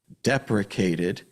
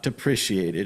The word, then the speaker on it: deprecated: The current thing that I've heard is that in the code, I'm going to say it right this time, it was deprecated, not depreciated.